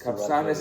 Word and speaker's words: Capçanes: say it properly capsus capsus capanas is the right way to say yeah like like we call it like with a Shar as capanas capanas yes that's cor and we're